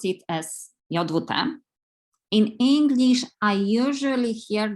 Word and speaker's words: JWT: As a native Polish speaker, I pronounce it as JWT. In English, I usually hear the pronunciation as JWT, but the RFC suggests the same pronunciation as the English word jot.